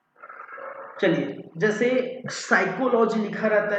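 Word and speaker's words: psychology: है भाई ठीक है पी लेटर क्या है साइलेंट है तो उसको हम पढ़ते है टेरोस ठीक है चलिए जैसे साइकोलॉजी लिखा रहता है तो साइकोलॉजी तो ए से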